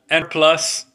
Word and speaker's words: Enerplus: Next one up was ticker symbol ERF, called N Plus. It is spelled ENERPLUS.